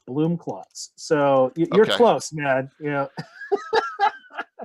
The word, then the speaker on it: Blumklotz: It was German. It was Blumenklotz. Then my grandfather Americanized it to Blumklotz.